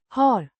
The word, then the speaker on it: har: Pronounced har with a short like in cat.